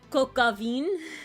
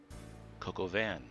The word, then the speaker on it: coq au vin: Oh, this is the one French food thing I never pronounced right. Coquavine.